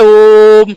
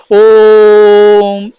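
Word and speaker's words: ओ३म्: जब हम इसका उच्चारण करते हैं तो इसको ओम नहीं उच्चारित किया जाता है, इसका उच्चारण होता है ओम। इसको लंबा खींचा जाता है, इसको क्या किया जाता है?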